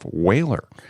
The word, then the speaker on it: Whalr: He's the founder and CEO of Whalr. That's spelled W-H-A-L-R, no E there.